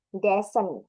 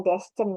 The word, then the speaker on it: descent: Yang penting kita pronunciation-nya aja benar gitu. Ada silent C, silent C, Descent, bukan destin ya.